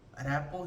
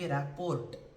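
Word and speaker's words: rapport: Rapo here just the the main thing which we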